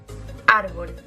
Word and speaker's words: árbol: En segundo lugar tenemos las palabras llanas, como por ejemplo, árbol. En este caso tenemos dos sílabas y está en la segunda, contando siempre de derecha a izquierda.